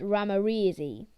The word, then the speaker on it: ramirezi: scientific name microgeophagus ramirezi pronunciation micro geophagus ramreezy size to four centimeters